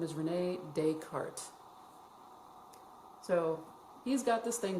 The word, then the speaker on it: Descartes: That's how you say it, Descartes.